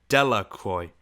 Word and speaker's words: Delacroix: Bobby and Haley Jones and Dickie Delacroix, the villagers pronounced this name Delacroix, eventually made a pile of stones in one